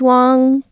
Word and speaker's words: Wang: said Wang did he okay so he said Wang on Kelly Clarkson and he said Wang with